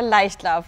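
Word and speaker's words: Leichtlauf: german one with us today so can you pronounce this name for us this is our light love our top selling oil our light love 540 it is a championship winning oil actually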